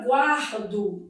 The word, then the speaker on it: guardo: Na palavra guardo dividido em sílaba, ó, eu tenho aqui um encontro consonantal imperfeito. O U é pronunciado, é uma semivogal e o A é vogal.